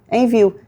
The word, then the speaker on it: Envu: A gente a gente escreve Envu, mas a gente pronuncia envio.